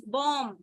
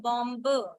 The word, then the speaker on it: bomb: It's bomb and not bomb.